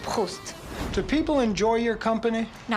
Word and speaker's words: Proust: it's pronounced Proust.